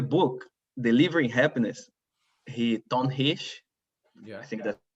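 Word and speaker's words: Hsieh: this on the book delivering happiness he don hish yeah i think that's how you pronounce his name he's saying yes by the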